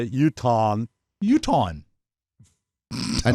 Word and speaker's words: Utahn: Utahn. A Utahan. No, it's It's How's it two spelled? syllables. It's not a Utahan. Mike. It is. It's Utahn. Utahn.